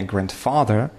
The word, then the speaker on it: grandfather: И здесь тоже первый – grandfather. Не grandfather, а grandfather.